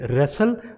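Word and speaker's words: wrestle: में आ रहा है, तो उसे ट को जो है वो प्रोनाउंस नहीं किया जाता। तो हम इसे कैसे बोलेंगे, विसल, इसे बोलेंगे रेसल, और इसे हसल, and this is कासल।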